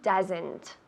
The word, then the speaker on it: does: Como una U en inglés, no en español. Does, decimos.